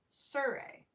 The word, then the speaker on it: Surrey: I'd been accenting the second syllable so that I was saying Survey. I changed the accent. Surrey. Surrey. No. Surrey. Then it changed from R-A-Y to R-E-Y. Surrey. Solve. Surrey. Yes, Surrey.